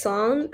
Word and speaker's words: Cong: so my name is song uh it spells as c-o-n-g but it's pronounced more like s-o-n-g so i prefer to